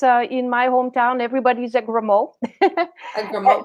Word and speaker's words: Gremaud: Gremaud, yes, it is.